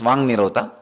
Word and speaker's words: Vak Nirodha: Vak Nirodha only, when you pronounce it becomes Vang Nirodha.